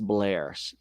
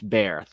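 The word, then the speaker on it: Bair: Russell-Rowe, Tani Oluwaseyi, and Thelonious Blair. It's Bear. Thelonious Bear.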